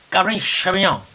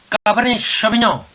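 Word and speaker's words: Cabernet Sauvignon: 자, 까베르네 쇼비뇽. 자, 원래 이 발음은 이런 식으로 하면 안 됩니다. 어떤 식으로 하느냐? 잘 듣고 한번 따라해 보세요. 까베르네 쇼비뇽. 까베르네 쇼비뇽.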